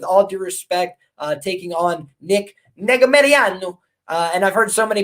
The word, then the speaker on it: Negumereanu: got Villanueva, with all due respect, taking on Negumereanu. And I've heard so many people butcher that name, so I wanted to try and get it at least closer to the real pronunciation. But Yeah, we got Negumereanu cashed me a big underdog ticket last time